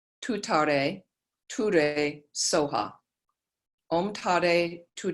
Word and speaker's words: Tare: This is pronounced, and the E's on the end are kind of an A sound. So it's Om Tare, Tu Tare, Ture, Soha.